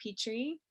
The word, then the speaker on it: Pitre: i e moonflower and uh facebook it's petri and petri is spelled p-i-t-r-e a lot of people are like